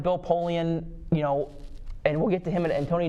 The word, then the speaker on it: Polian: It was more because it was Bill who said Pauline, right? Is that how you say it? Who? Bill Polian. Polian.